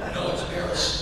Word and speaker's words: Beres: It should be pronounced Beres. Americanized it as Beres. But he insisted on it being Beres. Mr. Beres, have you ever come to City Hall? No, it's Beres.